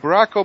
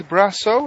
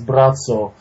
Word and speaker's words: Braco: But it looks like Braco, but it's Brasso. Is that the right name? Yes. I mean, phonetically, it looks like Braco, Braco, but the way it's pronounced in Croatia is Brazzo.